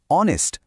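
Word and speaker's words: honest: প্রথমটা দেখো অনেস্ট। শব্দটা শুরু হচ্ছে এইচ দিয়ে। যেটা একটা কনসোনেন্ট। কিন্তু উচ্চারণটা কি? অনেস্ট মানে অ সাউন্ড আসছে।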